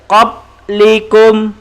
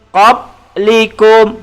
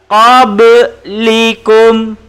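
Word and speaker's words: قبلكم: huruf balok huruf Qalqalah jadi kita membacanya Kobe likum tapi kalau tidak lantun kita baca qoblikum pop likum bacaan yang salah Hai bacaan yang betul qoblikum kau beli Gom Oke bantuan-bantuan rumah hasil ikuti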